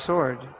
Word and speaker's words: sword: right spelled sword and it's pronounced sword like without the W having the sword of